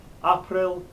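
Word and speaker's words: Aprille: going to be short april the a the stressed syllable there is followed by two consonants so it's going to be short yeah i think i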